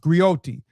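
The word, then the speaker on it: griotte: A griyotees is pronounced gyote is a female storyteller and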